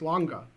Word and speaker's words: Lange: so I would and he said um he said oh is there an e at the end I said yeah and he said okay Max longa and I said oh